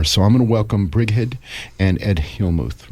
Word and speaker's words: Brighid: So I'm going to welcome Brighid and Ed Hillmuth, right? Yep. Did I say it right? It's Brighid.